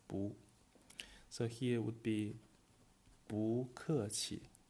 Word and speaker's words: 不: And the response can be 不客气不客气 Earlier I talked about the pronunciation of 不 Original pronunciation is 不 but before the fourth tone, the 不 plus first tone, second tone, third tone would be original 不 sound. But when 不 together with a fourth tone, then it's 不.